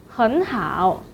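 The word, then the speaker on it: 很好: third tone syllable, so the word 很 should be changed to the second tone, 很, 很好.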